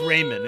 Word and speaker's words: Raymond: It's just Raymond. It's like Raymond without the D.